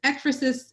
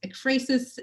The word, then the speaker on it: ekphrasis: And you'll even find a variety of pronunciations among native speakers of English. I think here among the three of us, you might hear some combination of ekphrasis, ekphrasis, ekphrasis.